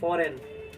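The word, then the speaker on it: foreign: फॉरेन लोग हैं ये फॉरेन ठीक है तो वो फॉरेन में देखिए क्या-क्या साइलेंट होता है जी साइलेंट है क्योंकि जी किसके साथ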